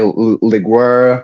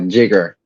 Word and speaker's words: Lliguer: What's the history behind your name, Jigger? All right, so Jigger, that's how it's pronounced. A lot of people say Liguer, Liger, but yeah, it's Jigger.